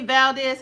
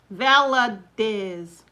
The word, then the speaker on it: Valadez: Stephanie Valdez. Hey, Stephanie. Stephanie Valdez. How you doing, Stephanie? Valadez. Valadez. Yeah, I always say it wrong.